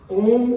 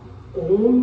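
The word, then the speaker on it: ओ३म्: तो इसका मतलब है ओम को 3 time long and loud chant, सामान्य गति से उसको 3 गुना उच्च स्वर से और लंबा उच्चारण करना है।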